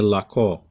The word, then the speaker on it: l'accord: إذا l'accord à la fin دي. هذا الدي هنا ما كنطقوش، حنا كنكتبوه ولكن ما كيتنطقش. هادشي علاش كنقولوا حنا ميت يعني ساكن. إذا لاكور.